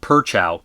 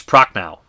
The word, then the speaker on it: Prochnow: Hamilton, Prochnow is not Perchow, it's Prochnow.